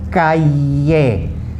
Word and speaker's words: calle: Okay, so yamar, yeno, calle, like C-A-Y-E, calle.